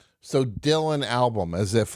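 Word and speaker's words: Albom: And my last name is spelled A L B O M. But when you say it together, it sounds like Dylan album.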